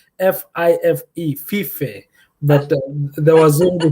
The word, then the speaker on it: Fife: I live in a warehouse city called Five, but unfortunately or fortunately, they spell it as Fife, Fife.